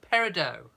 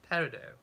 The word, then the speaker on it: peridot: think he's moved in you don't pronounce the t there we go peridot peridot do you know brian's parents